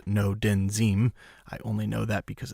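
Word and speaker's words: Ngo Dinh Diem: accent no didn't seem that spelled NGO di NH di e M in his pronounced no den zeem I only know that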